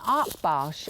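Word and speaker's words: Akbash: without a canine companion like Lily it's an art barge and that's spelled a k b a s h and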